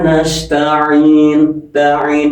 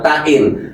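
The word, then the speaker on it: نَسْتَعِينُ: Iyaka na'budu wa iyyaka nastain bukan tain. Kalau tain ganti huruf lagi. Kalau nastain loh kalau dibaca kalau dibaca iyaka na'budu wa iyaka nastain berarti rubah dua huruf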